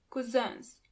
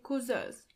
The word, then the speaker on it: Cousins: Onkel und Tanten, 9 Cousins. Do you hear the pronunciation of the last word? Cousin in plural, you have to add a French pronunciation to it.